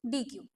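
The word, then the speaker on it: deque: फिर हमारे पास आता है introduction to डी क्यू। डी क्यू जो हमने देखा था वो इंसर्शन और डिलीशन था। यहाँ पे जो डी क्यू है जिसको हम डेक भी प्रोनाउंस करते हैं, बेसिकली इसको प्रोनाउंस जो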